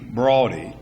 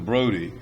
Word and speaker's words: Brodie: And I've been told the correct pronunciation of his name is Brodie as opposed to Brody, although you normally call it Brody because some people who knew him said that's the way that they pronounced the name.